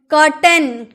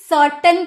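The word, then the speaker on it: curtain: अक्सर ये जो वर्ड है ना कर्टन, इसको अक्सर लोग गलत प्रोनाउंसिएशन करते हैं। क्यों? क्योंकि ये सी को सही पढ़ते हैं, सर्टन पढ़ते हैं।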